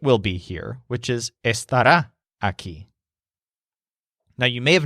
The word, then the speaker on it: estará: noises with his wand the word here is esta da so it has a stress on rah at the end and it means he